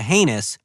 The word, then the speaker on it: heinous: Butter tart lickin', sugar crotch kickin', spam dagger dorkin' squacker poo-poo platter with a heinous, that's right, rhymes with anus, case of the trots.